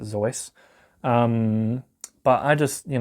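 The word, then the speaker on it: Seuss: old Dr zoy and you're supposed to pronounce it zoy um but I just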